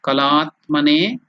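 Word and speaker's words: कलात्मने: So shodasha kalatmane. La is dirgha, elongated la. Kalatmane. Ne is again elongated.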